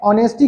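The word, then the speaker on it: honesty: Okay मैं ऑनेस्टी क्यों बोल रहा हूं? क्योंकि एज साइलेंट है।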